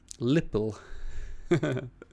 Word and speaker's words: LPIL: So if you're using, I pronounce it LPIL. Nice. Let's go with that. Lipple.